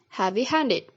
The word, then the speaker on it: heavy-handed: Next, compound with an adjective and a past participle ed word has the primary stress on the second word and secondary stress on the first word, like in the word heavy-handed. Compound which combines a number